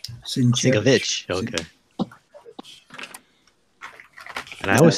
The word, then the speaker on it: Sienkiewicz: What about Bill Sienkiewicz? How do you say that? It's Sienkiewicz. Sienkiewicz.